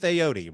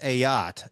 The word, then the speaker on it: Ayotte: I've probably called him Aote. Right? Everybody goes, "Oh." It's actually pronounced not a boat, but a yacht, right?